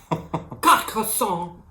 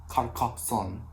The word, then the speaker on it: Carcassonne: So here's how you actually say the name of the game. French, Carcassonne. Carcassonne. Carcassonne.